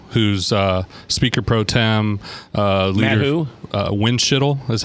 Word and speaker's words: Windschitl: so Matt winshuttle who's speaker Pro Tem Landrieu winshuttle as how you say it'll wind yeah be